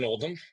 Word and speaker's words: Oldham: Um, I am Oldm. My last name is spelled like Old Ham, O L Dam, and uh, I own DeFactory, which is a combination of the words differentiation and factory.